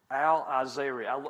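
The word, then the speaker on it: al-Eizariya: Al-Azariah. I had to have Google pronounce that for me, so that is correct.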